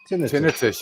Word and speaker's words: tinnitus: Is that how you guys pronounce it out there? Your tinnitus. Tinnitus, yeah, tinnitus. Oh, it's no, man. It's tinnitus.